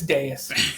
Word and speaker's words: dais: It's dais.